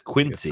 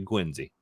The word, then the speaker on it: Quincy: I think that's often a subway mispronounced as Quincy, but it's actually Quincy.